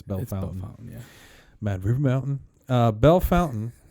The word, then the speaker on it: Bellefontaine: in 1980 in Bellefontaine we say Bellefontaine you could pronounce it Bella Fontaine but I think colloquially speaking it's Bella fountain yeah man River Mountain